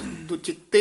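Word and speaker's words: दुचिते: थ गिरानी हा य पाठ दु चिते ही उच्चारण करना है दु चते नहीं कह देना ददे दे विच डैश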